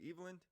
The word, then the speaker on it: Eveland: is evelyn uh am i pronouncing that correctly evelyn you were one of the few who have actually pronounced my last name correctly so congratulations awesome so